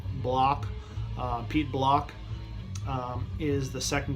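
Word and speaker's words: Blakk: Pete, I pronounce it Black, but I think it's more like Block.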